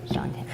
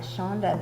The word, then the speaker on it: Shante: Shante. I just wanted to incorporate the lard or the shortening. I hope I keep calling you Shante and not Shonda, because your name is.